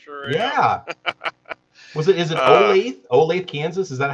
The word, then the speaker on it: Olathe: my god yeah yeah was it is it olathe kansas is that how you pronounce that yeah olathe okay okay nice that's nice there's no answer